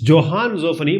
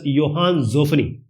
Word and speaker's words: Johann Zoffany: His name was, it's Johann Zoffany, but it's pronounced as Johann Zoffany.